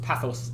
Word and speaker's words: pathos: might call it most of persuasion with essos pathos and logos that's how those are pronounced um that had to do with credibility